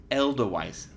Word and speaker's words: Edelweiss: Edelweiss. How do you say it? Edelweiss? Edelweiss. Sorry. Elderweiss. Have I been saying that wrong all this time? I guess Haven't so.